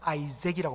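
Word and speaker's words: Isaac: 이삭, 원래는 히브리 단어로 말하면 이츠하크, 이렇게 이츠하크라고 읽는데요, 이것을 영어로 이제 아이zek이라고 발음하죠.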